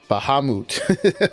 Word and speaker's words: Bahamut: I looked it up according to the D&D Dungeons and Dragons pronunciation guide. Bahamut.